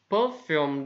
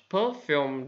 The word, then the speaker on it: perfume: How much perfume does she have? How much perfume does she have? Perfume. Perfume hay còn được đọc là perfume.